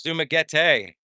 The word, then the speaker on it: Dumaguete: It's Dumaguete. I've been so wrong in pronouncing Dumaguete.